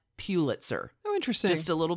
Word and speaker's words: Pulitzer: Palm Beach businesswoman, heroine, bravado goddess, Lilly Pulitzer. Huh. And her divorce from her first husband, Peter Pulitzer. I'm going to go ahead and emphasize Pulitzer. It's Pulitzer, not Pulitzer.